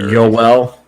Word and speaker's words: Joel: I like Joel Armia a lot. I just like him as a player. He's not like a fancy player. Yoel.